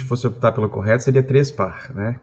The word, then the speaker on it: Trespach: Se a gente fosse optar pelo correto, seria Trespar, né? Quase com um R no final, mas é tranquilo, isso